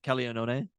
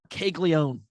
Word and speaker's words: Caglianone: That's how you'd pronounce his name, right? Jack Caglianone? Yes. It is kind of funny when you see the American version of it where it's like Caglione.